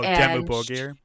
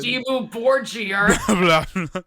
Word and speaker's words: Dimmu Borgir: Oh, Dimmu Borgir. Yeah, is that how you say it? Yeah, it's how you say like it. Dimmu Borgir.